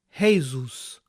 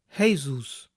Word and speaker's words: Jesús: Observen que los estadounidenses pronuncian el nombre latino Jesús como Jesus, Jesus.